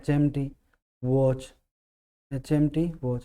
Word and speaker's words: HMT: लेकिन अगर sound vowel की हो, जैसे इसको हम पढ़ेंगे ना शुरू में, तो एच आएगा तो ए आएगा इसमें, एन का प्रयोग हम इसमें करेंगे वावल साउंड होने की वजह से।